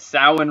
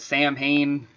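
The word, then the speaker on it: Samhain: yeah oh and the stupid they didn't get sowing right he wrote sam hayne on the production of the pronunciation of santa yeah and they're calling it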